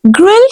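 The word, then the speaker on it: gruel: कहते हैं this is ग्रिल you don't need to से ग्रिल no know the word is ग्रल you have to pronounce you एंड E right the word will be ग्रल पानी को English में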